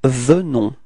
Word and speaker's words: venons: we get this nous venons, okay? Keep in mind that E is pronounced like E, so it's ve, ve, ve, venons. Final S is not pronounced, okay?